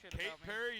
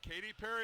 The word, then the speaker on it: Katy Perry: his way of talking Kate Perry you mean Katy Perry at least say her name right jackass disrespectful how do